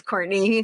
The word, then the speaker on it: Courtenay: So, my name is Courtney, but it is spelled like Cortina.